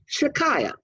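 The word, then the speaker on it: Shechaiyah: S-H-E, like she. Chai, C-H-A-I, which is Hebrew for light or life, okay, and then Y-A-H, Shikaya.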